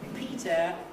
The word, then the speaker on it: Peter: It's very, very important to realize that you must not say Peter or Piter or something like this. You can't improve the pronunciation by following the spelling. Peter is just wrong. It's Peter and only Peter with an er.